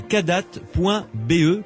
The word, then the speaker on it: Kadath: Le site donc c'est cadat.be, Cadat ça s'écrit K-A-D-A-T-H.be.